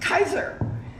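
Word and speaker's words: Kisor: Chrysler Ford Pontiac Buick my maiden name was k-i-s-o-r pronounced Kaiser and thus the clever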